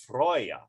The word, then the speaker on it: Freyja: of war though oh freya is a healing infertility and it's actually pronounced freyja thank you yeah oh